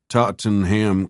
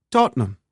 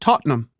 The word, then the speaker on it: Tottenham: "Can you tell me the easiest way to get to Tottenham Court Road?" Tottenham, she replied, making the word much shorter. Tottenham. It's pronounced Tottenham.